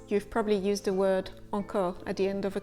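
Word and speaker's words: encore: how to pronounce it start with the sound a as in bagette ah and then round your lips and try and push the air through the nose a or the sound or can generally be written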